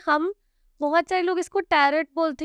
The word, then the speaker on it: Tarot: देखिए, इसको टैरोट बोला जाता है, टैरोट नहीं बोला जाता। टैरोट हम हिंदी फॉर्म में बोल रहे हैं क्योंकि हम उसकी स्पेलिंग पे जा रहे हैं, ठीक है। TAROT। कुछ लोग TARO ही लिख देते हैं, टी ही नहीं लगाते। कुछ लोग TARROT लिखते हैं, बट रियल TAROT होता है टैरोट।